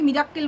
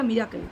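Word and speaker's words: miracle: মিরাকেল না হ্যাঁ মিরাকেল আজকালকার লোকে মিরাক্কেল বলে বোকার মতন এগুলো মিরাকেল বলে কথাটা মিরাকেল ঠিক আছে এই ভুল উচ্চারণ এইসব ব্লগাররাই করে যাই হোক এরাই সো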